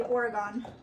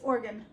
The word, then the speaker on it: Oregon: Just like a lot of people cannot pronounce Oregon. They say Oregon. It's Oregon.